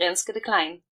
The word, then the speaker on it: Renske de Kleijn: country which means that this time I will pronounce her name correctly which is dr. lynskey decline before I tell you all about her let